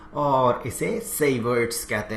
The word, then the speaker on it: Savart: यहां पर पिक्चर में आते हैं दो फ्रेंच फिजिसिस्ट, एक है जोबातिस्त ब्यो और दूसरे हैं फेलिक्स सेवाग।